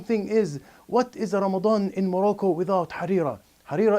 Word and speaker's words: Ramadan: in the month of Ramadan I'm going to pronounce it correctly Ramadan not Ramadan Ramadan and in Ramadan